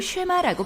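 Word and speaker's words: שְׁמַע: 첫 단어인 들으라를 히브리어로 쉐마라고 발음하는 데서 이 기도의 이름이 유래하죠.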